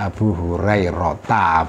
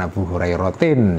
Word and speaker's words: Abu Hurairah: Wa qala, dan berkata Abu Hurairah, ya bacanya Abu Hurairah bukan Abu Hurairatin ya. Meskipun ini seharusnya dibaca Abu Hurairatin, tapi ini Hurairah karena ini isim ghairi munsharif ya.